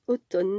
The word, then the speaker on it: automne: il ya écrit automne on prononce automne nom masculin celle des quatre